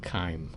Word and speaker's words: chyme: kind looks like it's spelled chime but it's pronounced chyme uh so so this moves from the uh